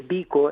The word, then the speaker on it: bico: Fíjate cuenta que nosotros decimos aquí el bico, el bico, por ejemplo, de un de un recipiente, el bico, pues el bico no es otra cosa que el pico con ortografía, esto con pronunciación portuguesa.